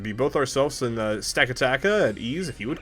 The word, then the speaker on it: Stakataka: Stack-a-taka.